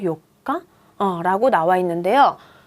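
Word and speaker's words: 四日: 요가라고 읽는 방식이 있어요. 볼까요? 4일이 요가예요. 그런데 14일, 24일만요. 이 요가를 따라와요. 그래서 14일 같은 경우에는 요 니찌가 붙지 않고요. 4일이 요가였잖아요. 14일은 주요가고요.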